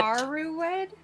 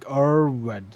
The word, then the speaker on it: Arwed: Aruwed? No, it's like Arwed. Arwed. Arwed. It's Aret, but with a W.